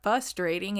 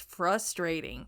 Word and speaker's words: frustrating: But there's an R in the beginning of that word. It's not frustrating, it's frustrating.